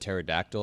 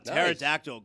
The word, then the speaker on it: pterodactyl: But after you said pterodactyl, I came up with a top 5 words with a silent P. Oh, pterodactyl. Great. It starts with a P.